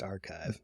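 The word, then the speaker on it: arXiv: arix is just archive it's spelled XIV but pronounced archive okay thank you archive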